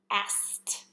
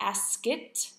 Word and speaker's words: asked: pass also being unvoiced the verb ask should be asked in the past tense and pass past not askit not passid the ending T should just have a t sound with no extra syllables before again Ask past